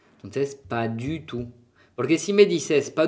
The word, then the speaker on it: pas du tout: Et la T no suena al fin.